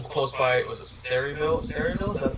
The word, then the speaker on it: Sayreville: Sayreville, is that how you say it?